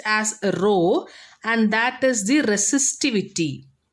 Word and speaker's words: rho: section and this term row row this is pronounced as row and that is the resistivity okay that is